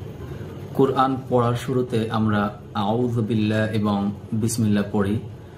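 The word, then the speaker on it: أعوذ بالله: এখানে আউযু বিল্লাহ এই শব্দটির মধ্যে একটি জাল এসেছে। এই জাল অক্ষরটি কিভাবে প্রোনাউন্সিয়েশন বা উচ্চারণ করতে হয় দেখুন। জু, প্রথমে জিব্বার আগা সামনের উপরের দুই দাঁতের আগার সাথে লাগাতে হবে।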